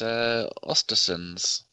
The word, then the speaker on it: Östersunds: Danny, I want you to pronounce this Europa League team for me, since you are so good at pronunciation. Yeah, no problem. It's Östersunds, FK.